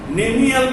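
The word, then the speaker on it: cnemial: And next character, nemial crest. I already depicted to you nemial crest. Nemial crest. That is called as tibial crest also. Tibial crest Okay? In Nemial, see the silent inphonetically, and that is called Nemial crest or tibial crest.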